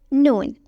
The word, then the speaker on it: Noon: Noon. To write that, draw a half circle with a dot on top. Noon is like the Arabic version of N.